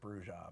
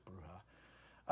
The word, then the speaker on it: bruja: by night with a bruja back bruha or bruja I always we always pronounce it bruja but I think it's bruha uh can you have